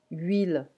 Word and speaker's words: huile: Huile, oil. Huile, we don't pronounce the H in French.